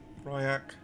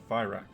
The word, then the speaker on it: Fyrak: Fryak is our prey. Fyrak. I need to say it right, man.